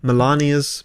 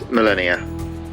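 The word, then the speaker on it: Malenia: I didn't realize it's not pronounced Melania like Donald Trump's wife. It's Melennia, right? Melania. Am I getting that right?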